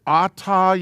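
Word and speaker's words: אתה: We're saying, Baruch atah Yahweh, blessed are you. Okay, so for the masculine, it's the Aleph Tav. Says I. So this is pronounced Ah. Atah.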